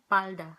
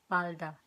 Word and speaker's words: palda: Anyway, skirt in Spanish is falda, but in Tagalog is palda. We change the F to P, palda.